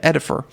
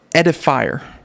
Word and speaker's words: Edifier: we should have a guest called edifer or i should say edifier i think is proper way to say that so it's uh yeah